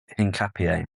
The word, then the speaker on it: Hincapié: Hincapié.